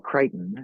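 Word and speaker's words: Crichton: um I mean Michael Kiteon and there's no reason on God's green earth that it should be pronounced that way but Michael Kiteon whatever uh he's like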